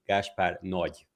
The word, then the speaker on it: Gáspár Nagy: The correct Hungarian pronunciation would be Gáspár Nagy.